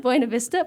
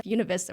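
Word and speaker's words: Buena Vista: It's spelled Buenav Vista, but they all say, "No, you need to say Unavista" which I'm like, "That's a really weird way of saying it, but okay."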